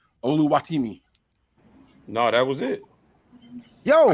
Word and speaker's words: Oluwatimi: the Seahawks Pig I can't say his name oluwatimi no that was it yo you said it